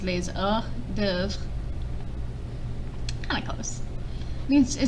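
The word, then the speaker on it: hors-d'œuvre: dev this means appetizers we use this word in english but we pronounce it hors d'oeuvre but in french it's pronounced laser dev kind of close means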